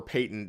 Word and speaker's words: patent: You all know the word latent, but this word patent or patent, it depends on if you're like British or English. We all pronounce that patent like a patent for an invention, but other English speaking countries call it patent.